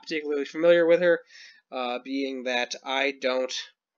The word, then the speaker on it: H.E.R.: Wikipedia page so um born in 97 uh pronounced her an acronym having everything revealed okay uh she